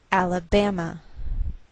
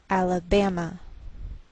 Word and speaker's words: Alabama: by a lowered Mark so the greater stress is on this third syllable we say Alabama Alabama what else is shared